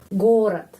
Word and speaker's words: город: Terus penekanan di huruf O. Jadi huruf O lebih panjang daripada huruf vokal dalam kata ini yang lain. Gorat itu kota, ya, atau city. Bahasa Inggrisnya city. Gorod.